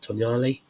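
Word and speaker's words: Tonali: Obviously, Tonyali, that's how you pronounce his name.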